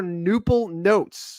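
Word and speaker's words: Knoople Notes: The silent K, by the way, in case you're just listening and in the podcast version down the road, a Noople is spelled with a silent K in front. Yes. And so is notes. So it's like canoodle connotes.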